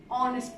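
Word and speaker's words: honest: আচ্ছা, এরপরে দেখো, Alam is অ্যান অনেস্ট ম্যান। এইটার রুলটা হলো, যখন কোনো ওয়ার্ডের প্রথম লেটার অনুচ্চারিত থাকবে, ঠিক আছে, অর্থাৎ এখানে এইচ কিন্তু আমরা উচ্চারণ করছি না, এখানে ও থেকে শুরু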